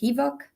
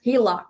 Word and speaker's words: HELOC: You can also do the, what is it, HEVOC? Is that how you say it? HELOC? HELOC.